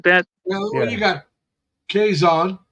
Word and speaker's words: Quezon: you got Quezon, which starts Yep. with a Q, but it's pronounced Yep. with a K.